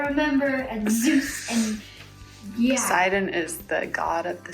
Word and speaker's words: Poseidon: Poseidon, that's how you say it.